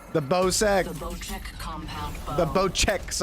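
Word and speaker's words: Bocek: bo sex compound the bow checks i have been pronouncing it wrong it's bow check this precision weapon requires patience and pinpoint consistency the bow check not the bow sex yeah that gun is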